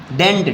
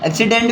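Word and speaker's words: accident: है ना अच्छा नेक्स्ट एक्सीडेंट डेंट डिंट नहीं एक्सीडेंट मींस दुर्घटना इंसीडेंट मींस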